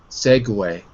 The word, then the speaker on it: segue: going to be pronounced the GU is pronounced just like it would be in French probably okay alright so there